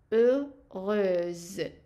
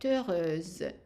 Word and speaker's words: heureuse: So heureuse. Z. So the S here, because we have only one S between two vowels, it is pronounced as a Z. So that's why we're saying elle est heureuse.